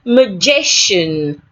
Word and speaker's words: magician: Say magician. Magician. So I have the A sound in magician.